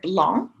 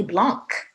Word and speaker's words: blanc: for example the word blon in french b l a and c which we know as the color white belong you don't pronounce that c at the end right you don't say blanc you don't say that